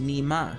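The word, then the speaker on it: 你妈: And it's Chinese, and the word is pronounced nema, which means your mom.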